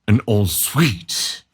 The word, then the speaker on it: en-suite: Is it an en-suite or an in-suite? An en-suite.